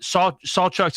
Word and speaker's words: Sawchuck: But Sawchuck's a guy that's Sawchuck, right? That's how we pronounce it.